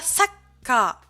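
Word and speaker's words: さっか: La prononciation. L'écrivain, ça se dira Saka.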